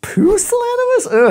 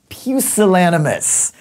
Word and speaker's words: pusillanimous: pronounce word is pusillanimous puse lana moszer that just sounds bad no it's pusillanimous someone who's pusillanimous lily-livered